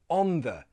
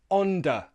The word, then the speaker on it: the: with th, for example, on the, in the. If you're one of those people who pronounces this as onda, with a hard sound instead of on the, a soft sound, I'm going to show